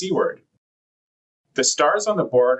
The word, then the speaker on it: CWARD: For example, the spelling of C w departure is pronounced cword.